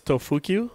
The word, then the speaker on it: Tofuku: drift fan little guy it's actually it's tofuku yeah do say the